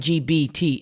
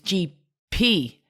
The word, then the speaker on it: GPT: Like I'm saying GBT. It's GPT.